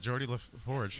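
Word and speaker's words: Geordi La Forge: Is that how you pronounce that? Yeah, that's Geordie LaForge.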